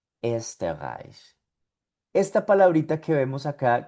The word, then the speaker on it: Österreich: Esta O umlaut tiene un sonido parecido a la E también. Por lo tanto, esta palabrita de por aquí que vemos que tiene una O umlaut sonaría Österreich, Österreich, Österreich.